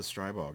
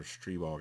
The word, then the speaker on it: Stribog: check out this the strybog it's it's an all or stree bog i think is technically how you pronounce it but um yeah oh